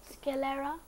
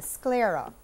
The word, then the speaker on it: sclera: you learnt that's incorrect Gabriel cullera that's correct come on improper pronunciation I'm sorry that means you actually got it incorrect it's the sclera which science skill Kamal